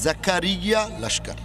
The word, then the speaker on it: जकरिया लश्कर: मेरा नाम है जकरिया लश्कर। अच्छा, जकरिया, दैट इज उर्दू प्रोनाउंसिएशन होता है, 5 दफ़ा हो जाते हैं।